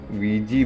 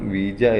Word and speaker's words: Ouija: പ്രാദേശികമായി via board, വിജി board, ഓജോ board എന്നിങ്ങനെ പല പേരുകളിലും ഈ ബോർഡ് വിളിക്കപ്പെടാറുണ്ട്. ബ്രിട്ടീഷ് ഇംഗ്ലീഷ് ഇതിൻ്റെ ഉച്ചാരണം വീജ എന്നും അമേരിക്കൻ ഇംഗ്ലീഷ് വിജി എന്നും നമ്മുടെ നാട്ടിൽ പൊതുവെ ഓജോ ബോർഡ് എന്നാണ് ഇതിനെ വിളിക്കാറുള്ളത്.